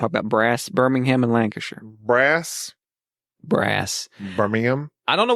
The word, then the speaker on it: Lancashire: I will say you said Lancaster, basically, is what you just said. Nobody who's American can pronounce that. Lancashire.